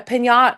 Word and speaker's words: piñata: I was like, cuz that's how you're supposed to pronounce it, right? That's how you're actually supposed to say that.